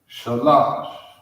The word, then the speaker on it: Shalash: Number 3 is pronounced Shalash. All right, Shalash is 3. In the ancient, that's Shah, La, another Shah, Shalash. All right, that's 3, Shalash.